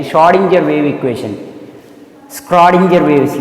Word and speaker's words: Schrödinger: Schrödinger wave equation. C is silent actually. Schrödinger wave equation.